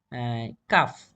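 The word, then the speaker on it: calf: এটা উচ্চারণ হল সি কাফ হবে। এটা সি এল এফ এর স্থলে ভি হবে। পরবর্তী ই এর যোগ করে দিলেই হয়ে গেছে। এটা হচ্ছে কাফস। যদি উচ্চারণ সি এল এফ এর উচ্চারণ হচ্ছে কাফ সেক্ষেত্রে ভি এবং এর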